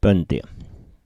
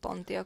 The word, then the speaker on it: Pöntio: Pöntio. Yeah, I said Pontio because we don't have the dots on top of the O here. Yeah. But it's Pöntio here.